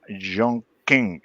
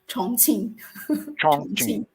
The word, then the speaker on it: Chongqing: 87 million and zhang king am i pronouncing that correctly you just you just correct